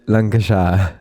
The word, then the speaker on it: Lancashire: Blackburn, c'est Lancashire. Comment tu prononces ça?